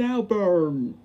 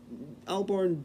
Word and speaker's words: Albarn: Jones Gorillaz Demon Albert ah yes David Alburn the front one of the uh Punk row fans why did I say his name like that in fact why did